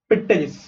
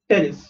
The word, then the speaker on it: Pteris: Again here P is silent. Okay you don't say पिटेरिस, यू से टेरिस. You don't pronounce the पी, पी is silent over here.